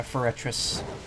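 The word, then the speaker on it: Forretress: to fur it yeah ferretress was that what it sounded like I was saying because I'm not trying to say it that way camera's a little more diet no that's actually the proper pronunciation wow for a trip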